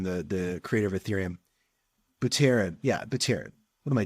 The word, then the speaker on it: Buterin: Vitalik Buterin, I don't even know how to pronounce Vitalik's last name, the creator of Ethereum. Buterin.